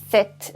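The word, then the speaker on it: sept: 7 it sector 7 set in set as you can hear I don't say the peep set just like a set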